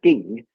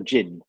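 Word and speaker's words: 勁: so um when do you say ging is that the cantonese pronunciation of what um a lot of people call jin yeah exactly yeah it's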